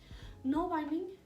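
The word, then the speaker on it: nålbinding: Knoll binding, which is spelled N-A-L, binding, needle binding, is like I said, a fiber art that predates knitting, which is their primary thing.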